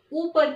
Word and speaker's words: ऊपर: यस, ये picture दिखा रहे कि ऊपर की ओर। तो ऊपर कहीं तो क्या है, ऊपर कहीं तो अप है ना बच्चों। तो ऊपर कहते हैं, ऊपर नहीं कहते हैं, है ना।